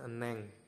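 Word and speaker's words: 은행: benci nomor t empat ada enheng tulisannya tapi dibacanya Eneng Neng ya eneng itu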